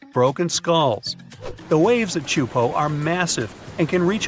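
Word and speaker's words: Teahupo'o: It's pronounced Chupo, and it means broken skulls in Tahitian. Yeah, you heard that right, broken skulls. The waves at Chupo are massive and can reach up to 23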